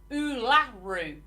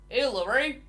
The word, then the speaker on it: Uluru: She always used to say it like Ularu. Uluru.